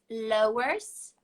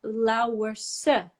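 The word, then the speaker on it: Louwerse: it a go okay is it lowers but this is what most people say but it's actually lower sir it's actually three syllables right but you wouldn't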